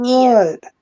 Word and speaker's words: Eoin: Erica in the chat shared with us that Ian, spelled Eoin, is an Irish variation, but it's still pronounced Ian.